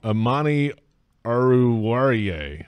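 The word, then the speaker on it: Amani Oruwariye: Amani Aruwariye, I believe is how you say it.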